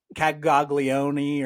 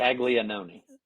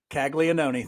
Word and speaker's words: Caglianone: It's Caglione or something like that. Caglianone. Caglianone.